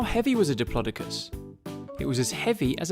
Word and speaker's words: Diplodocus: How big was a Diplodocus?